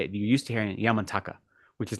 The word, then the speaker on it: Yamantaka: I say Yamantaka because that's how it should be pronounced in Sanskrit. It's Yama Antaka. Yama is death, and Antaka is destroyer or ending. So it's Yamantaka.